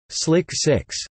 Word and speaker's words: SLC-6: When the disaster happened, the Air Force had performed extensive modifications of its Space Launch Complex 6 (SLC-6), pronounced as Slick 6.